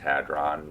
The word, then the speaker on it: hadron: and you know you probably heard the large hadron collider sometimes it's pronounced hadron where they uh where they tried to find